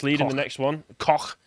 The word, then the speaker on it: Koch: Koch. Is that how you pronounce it? Koch. Yeah. They're Koch guns. Not a rude word, I'm just saying the name of the German company.